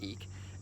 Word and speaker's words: Ik: is what's called the eek glyph spelled ik pronounced eek and it means um